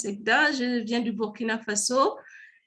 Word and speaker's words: Zegda: Ça se prononce Zegda.